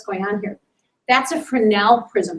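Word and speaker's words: Fresnel: on here that's a fenel prism you don't pronounce the S and these are little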